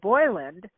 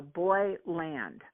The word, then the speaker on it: Boyland: His name is spelled like Boyland, but I said, do I say Boylan and he said no, Boyland. It's like okay, Boyland.